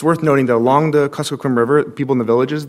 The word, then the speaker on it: Kuskokwim: Could you please address whether the communities that live on pronounce the river? The Kuskokwim, Your Honor. Kuskokwim.